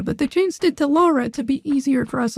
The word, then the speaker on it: Lara: I heard someone uh refer to her as Laura I was like it's not her name it's not was supposed to be Laura but they changed it to Lara to be easier for us Americans to pronounce